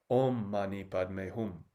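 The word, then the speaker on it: ཨོཾ་མ་ཎི་པདྨེ་ཧཱུྃ: If you're in a holistic health program, you've probably already heard this 6-syllable mantra of Om Mani Padme Hum. That's 6 syllables. Om Mani Padme Hum.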